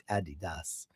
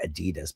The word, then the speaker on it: Adidas: you get programmed to say Adidas, but the guy's name literally was Adidas and his brother left uh Adidas and created uh Puma because they got into a big fight. I don't know why Americans say Adidas.